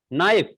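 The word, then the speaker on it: knife: जैसे आप लोग देख लीजिए कि आप नाइफ लिखते हो, नाइफ, तो वहाँ पे के उसमें साइलेंट है, लेकिन उसको पढ़ा नहीं जाता है, बल्कि लिखते समय ही उसका उपयोग किया जाता है।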